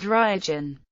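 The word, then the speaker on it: Ryojun: administered the Liaodong Peninsula it was called Ruijin. The Japanese pronunciation of the Chinese characters in the city's name.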